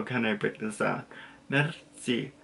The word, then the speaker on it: merci: Mitzi, so you kind of have a little tongue roll in the middle, but not really, so you say Mitzi, and then merci beaucoup is thank you, thank you very much.